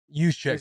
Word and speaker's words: Juszczyk: Juszczyk.